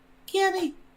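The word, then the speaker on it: Cami: Cammy, we spell it C-A-M-I.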